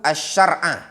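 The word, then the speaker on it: الشرع: Asy-syar'a, afwan, itu bacanya man rukhisa lahu asy-syar'a, yaitu orang yang diberikan rukhsah untuk dia syariat ini.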